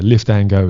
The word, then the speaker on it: Liftango: But yeah, Liftango is how we sort of pronounce it.